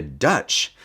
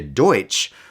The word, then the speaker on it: Deutsch: many of them like what we call the Pennsylvania Dutch or actually the Pennsylvania Deutsch we just said it wrong and we still live